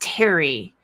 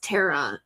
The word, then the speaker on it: Tere: over and over that my name is pronounced Terry. Um so he still asked three years later you know not really saying my my name is not pronounced Tara David.